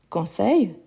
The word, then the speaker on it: conseil: Donc, je peux dire par exemple, je conseille, il travaille. Donc, la prononciation, c'est la même. Conseil, conseil. Ici, en fait, ici, on prolonge un peu.